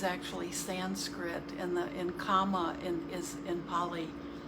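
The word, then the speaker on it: kamma: word karma is actually sanskrit and the in comma in is in pali how we will pronounce it or how we say it in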